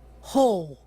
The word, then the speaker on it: whole: Ouçam agora dois casos de palavras bastante usadas onde o W não é pronunciado. Whole?